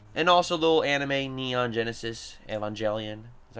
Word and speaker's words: Neon Genesis Evangelion: and Shin Godzilla, and also the little anime Neon Genesis Evangelion. Is that how I pronounce it? I hope so. Actually, Este, it's pronounced Neon Genesis Evangelion?